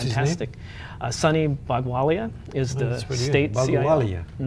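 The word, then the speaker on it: Bhagowalia: Sunny Bagwalia is the state Bagwalia. CIO. You missed. I think that's close. Yeah, Bagwalia.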